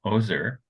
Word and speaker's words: Oser: William Shakespeare and uh Our Guest today uh ozer is that correct pronunciation for your last name yes sir uh